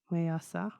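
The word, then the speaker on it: Ma'aser: Okay, so next word here is pronounce. The spelling is MA''ASER. Mayasa.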